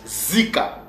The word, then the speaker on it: Zika: lueur alors ces mots-là nos pères le prononcer ou se prononce Zika c'est pas Zeka mais c'est Zika alors que signifie Zika